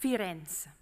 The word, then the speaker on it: Firenze: First, Firenze, because we have to pronounce in Firenze.